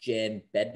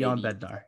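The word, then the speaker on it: Jan Bednář: So the likely starter is going to be, I believe it's pronounced Jan Bednar or maybe Jan Bednar.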